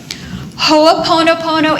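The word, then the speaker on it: hoʻoponopono: hoapono Pono spelled exactly like it sounds okay hooponopono is an ancient Hawaiian healing technique there are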